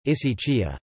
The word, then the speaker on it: ἡσυχία: Hesychasm, Greek, hesychasmos, contemporary Byzantine Greek pronunciation, isaitia zmos, derives from the Greek hesychia, hesychia, Greek pronunciation, isychia, stillness, rest, quiet, silence, and hesychazo, Greek pronunciation, isizazo, to keep stillness.